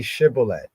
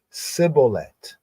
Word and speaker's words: shibboleth: So they say to him, now say shibboleth. And he said, sibboleth, for he could not frame to pronounce it right. Like in some languages, some people in the culture would say shibboleth, while this one could not frame his mouth correct to say shibboleth, to syllabate the S, shibboleth.